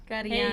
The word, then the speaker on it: Kariana: Kariana.